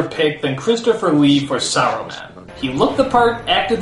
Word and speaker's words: Saruman: Saruman, you idiot! It's pronounced Saruman! The S isn't silent!